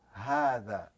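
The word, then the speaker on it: هذا: You see, hadha is pronounced like this. It's supposed to be written like this, but they eliminated this alif and they just stretched it like this.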